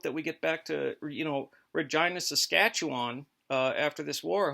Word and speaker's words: Regina: It's pronounced Regina, Saskatchewan.